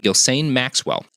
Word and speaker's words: Ghislaine: Yes, stop calling her Ghislaine. This Ghislaine Maxwell guy or lady. She made sure that I knew her name and how to pronounce it correctly. Ghislaine Maxwell.